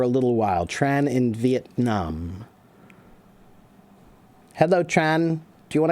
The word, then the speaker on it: Vietnam: When we say Vietnam, Vietnam, but I've heard enough Vietnamese that when they say it's Vietnam, Vietnam, it's much more like short.